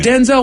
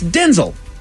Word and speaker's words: Denzel: Denzel Washington. Oh, right. That is not how you say his name. How do you... It's Denzel. Really? It's Denzel Washington.